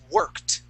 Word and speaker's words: worked: years good yes has worked remember that E ending is a t sound worked work um after three months